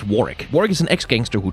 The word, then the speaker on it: Warwick: can't shake the feeling it's pronounced warrick warg is an ex-gangster